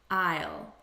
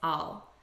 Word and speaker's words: I'll: so what's this here it's a contraction of i will i'll repeat i'll but in natural spoken english the unstressed pronunciation is all i think i'll i think i'll go because we say it so quickly it loses some of its pronunciation i think i'll go